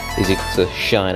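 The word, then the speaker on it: sinh: case shine now the way i said that there is shine is in the sunshine now these are pronounced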